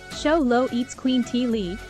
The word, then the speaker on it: Xoloitzcuintli: Show Low at squintly pronounced Show Low eats Queen T Lee is one of the